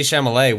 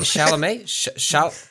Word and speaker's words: Chalamet: music on the early i've never pronounced it chalamet shout out yeah okay you just swapped the m there it was you said chamolay and i think chamolay